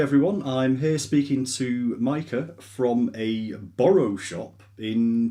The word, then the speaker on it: Maike: pronounce your name i wasn't sure how you pronounce it mike micah okay we'll just use your first name because